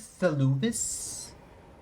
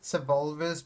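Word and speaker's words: Seluvis: His name is Salvis, but I always pronounce it Sabulvis because I'm thinking of Sabulva from Star Wars.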